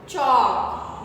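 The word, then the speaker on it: chalk: चॉक, यहाँ भी L silent है।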